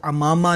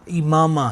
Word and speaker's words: عمامہ: جو لفظ ہے امامہ، اس کے عین کے نیچے زیر ہے، یہ لفظ امامہ نہیں ہے بلکہ صحیح تلفظ اس کا امامہ ہے، اور اسے ہماری بولی